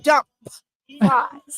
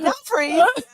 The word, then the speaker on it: Dumfries: wife that I used to call dump fries. Yeah. Moved to an area called Dumfries. Learn how to pronounce it.